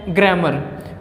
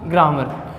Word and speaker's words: grammar: तो इसका सही उच्चारण होता है ग्रामर और गलत रहेगा ग्रामर।